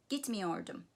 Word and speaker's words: gitmiyordum: So the negative, in the negative sentence, the main stress is on the syllable preceding the negative me. Gitmiyordum, okumuyordu, okay?